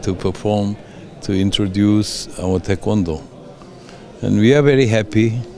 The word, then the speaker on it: Taekwondo: Con noi c'è proprio il presidente della Federazione Mondiale del Taekwondo, dico giusto, la pronuncia è giusta, sì, Taekwondo.